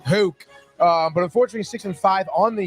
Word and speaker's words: Houck: We thought it's Hoke, dude. Houck.